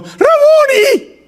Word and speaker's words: Raboni: Ella se volvió y exclamó, ¡Raboni! En arameo es maestro. Normalmente escuchamos rabí, pero esto es en arameo, Raboni.